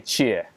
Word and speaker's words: Chia: Okay, XSK Samurai, Chie. Is that how? Did I say it right? Chia, yeah. Chia. Chia. Like chia seed.